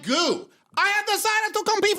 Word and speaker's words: Gu: And is it Gu or Go? I don't even know at this point. It's pronounced Gu.